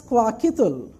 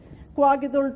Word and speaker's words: Kwakiutl: is pronounced as Kwakiutl written as u TL pronounced as Kwakiutl Kwakiutl tex Kwakiutl of vancouver